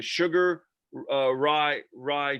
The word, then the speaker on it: Sugar Ryu: I don't want to say it wrong, the Sugar Ryu Jiu-Jitsu.